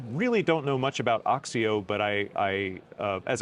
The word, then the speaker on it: OXIO: uh Nico is a co-founder and CEO of oxio did I say it right absolutely perfect I